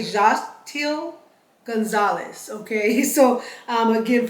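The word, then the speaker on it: Xochitl: i t l so I'm going to say jtil Gonzalez okay so um again forgive me if I did not pronounce the name correctly but that is Anita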